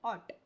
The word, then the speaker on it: ought: same meaning of must we pronounce it a a Okay g and H are silent art okay so must she